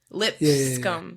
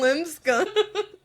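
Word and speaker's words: Lipscomb: okay l i p lip scum like l i PS lip scum scum yeah no they're no you're still not saying it right you're saying limb scum you know you know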